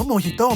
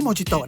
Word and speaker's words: Mojito: ก็ จะ ได้ โมฮิโต ออก เสียง ว่า โมฮิโต ไม่ ใช่ โมจิโตะ นะ เอา ไว้ ดื่ม ดับ